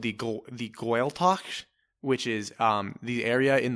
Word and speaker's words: Gaeltacht: But I believe it's pronounced the Gaeltacht. If you are, please send us an email. Come on the program. Yeah. I think it's called the Gaeltacht, which is the area